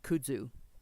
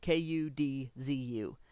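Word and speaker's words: kudzu: right by the way I believe it's pronounced kudu kuu d zuu it's an invasive Vine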